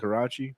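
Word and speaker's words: karaage: And it's Do I I always mispronounce things. Is it karaji or how's it kuragi? Karaji.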